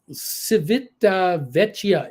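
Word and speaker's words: Civitavecchia: it is it's a country joke Tim uh civita vechia is the pronunciation we stayed in the uh port for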